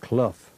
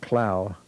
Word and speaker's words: Clow: him and but it's his family actually pronounced it Clough instead of cloud and he worked he